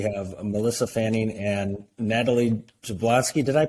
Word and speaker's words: Jablonski: us today we have Melissa Fanning and Natalie zablowski did I pronounce it right Natalie you did good I